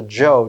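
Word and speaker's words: Chou: what was called the joe dynasty used to be spelled c-h-o-u pronounced joe and the joe dynasty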